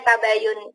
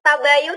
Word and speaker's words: tabayyun: Genta baiyun gitu ya kayak Joyoboyo bacanya tabayyun ia sebenarnya orang selalu bilang tabayun nabi sebenernya dibaca yang